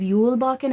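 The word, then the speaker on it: Julbocken: so anyway that again was Yul Bakken it's spelled with a J like j-u-l-b you'll walk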